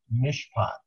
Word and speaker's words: mishpat: of them where he constantly is talking about mishpat. Mishpat. Mishpat. Spell it.